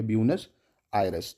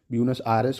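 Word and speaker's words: Buenos Aires: ब्यूनस, spelling गलत लिख दी मैंने, एक सेकेंड, BUENOS होती है ब्यूनस आयरस। ठीक है, AIRES, बाकी प्रोनाउंसिएशन अलग अलग हो सकते हैं। ब्यूनस आयरस कोई बोलता है, कोई एरियस बोलता है।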